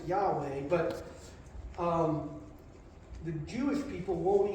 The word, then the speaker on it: Yahweh: And most of the time in the current translations in the Bible, when God addresses himself, we use the word, we pronounce it Yahweh, but the Jewish people won't even attempt to pronounce it.